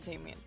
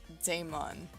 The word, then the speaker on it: Damon: Or, not Damien. Damon. Sorry, I don't know why I say his name as, like, Damien.